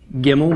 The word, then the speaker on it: gimel: third letter is gimel gimel makes the sound of a hard G G as in girl okay Numerical value of